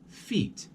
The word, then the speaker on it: feet: with the eye but if we look at the word for feet for example you see it's not two E's two vowels so we're going to say feet you're gonna notice when you say it you should rest a little bit longer so you have a